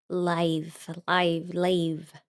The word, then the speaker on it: Lave: This is Lave. That's how you say it. We're just gonna say Lave.